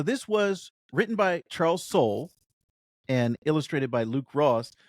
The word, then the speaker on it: Soule: So this was written by Charles Soule and illustrated by Luke Ross with some covers, some fantastic covers by Lanil Yu. Now, So it's Tim, Soul. It's Soul, not Soleil. It's Soul.